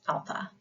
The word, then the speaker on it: alpha: of the Greek alphabet is Alpha so we say ah as in Father Alpha a as in Father invite you to to